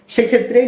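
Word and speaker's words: সূক্ষ্ম: যুক্ত ব্যঞ্জন বর্ণের সাথে যেহেতু ম ফলা রয়েছে সেক্ষেত্রে নিয়ম অনুযায়ী এর কোন উচ্চারণ হবে না অর্থাৎ ম এর কোন উচ্চারণ হবে না সেক্ষেত্রে এই শব্দটা কি দাঁড়াবে দন্ত স দীর্ঘকার সু খিয়ো ম ফলা কি হবে সূক্ষ ওকে এরপরে আরেকটা শব্দ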